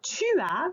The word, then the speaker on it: tu as: And if I'm saying that to someone else about them, then I will say tu as 7 ans. And again, notice here I do not pronounce the S. Tu as 7 ans.